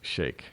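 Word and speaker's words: Sheikh: the so-called blind Shake I know some people pronounce it Sheik but it's actually pronounced Shake now on the video a three judge ninth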